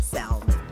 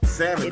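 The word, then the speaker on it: salmon: be like oh man a lot of people pronounce it Salon Salon unfortunate Sam sammon the L is silent and I know what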